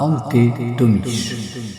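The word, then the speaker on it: Ante Tomić: Miracle à la combe aux aspics par Ante Tomic. C'est comme ça que ça se prononce d'après ce que j'ai compris en croate.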